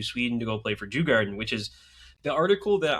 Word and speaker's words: Djurgården: I got to pronounce that correctly because it sounds really bad if you don't pronounce the R, because then it just kind of sounds like you're saying Jew Garden instead of It's Djurgården.